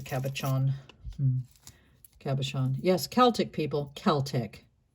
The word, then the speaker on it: Celtic: Celtic. Think of it as being spelled with a K. It's not. It's just a hard C.